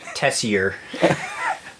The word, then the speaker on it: Tessier: um if you're wondering how to spell it phonetically tessier kind of like messier but tessier it's